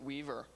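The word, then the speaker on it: W3VR: is a fun one I pronounce it Weaver it's my little cute pet name for it code name Weaver yeah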